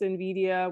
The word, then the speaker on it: Nvidia: The company's name, Nvidia, pronounced Nvidia, was carefully chosen because of its nuanced meanings, which are tied to vision and envy.